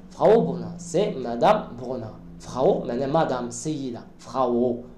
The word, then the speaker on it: Frau: Das ist Frau, Frau, Au, Au, Au, ماشي O.